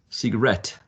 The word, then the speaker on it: cigarette: me remind you that this work comes from cigar right and there's a shift of the stress to the last syllable so um cigarette cigarette interesting because i